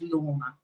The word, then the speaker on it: Lorna: She's in a meeting, but if you'd like to show her that the pronunciation of Lorna is Lorna, there you go.